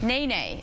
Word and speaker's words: nene: um so your first question today is the Nae Nae is the official bird of which U.S state hmm Nene is how you pronounce it yes and I've never heard of